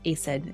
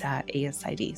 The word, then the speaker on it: ASID: You say the letters out loud. It's not pronounced ACID, it's ASID.